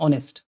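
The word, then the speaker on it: honest: क्योंकि ये जब आप बोलेंगे ऑनेस्ट बोला जाता है। क्या बोला जाता है? ऑनेस्ट।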